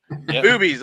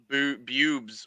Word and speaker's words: Boobies: Is that how you pronounce it? Because I have Boobies. Okay. Yep. Boobies. Because I've always I've heard about it, and I always thought it was Bubes or something, and I was like, it can't be.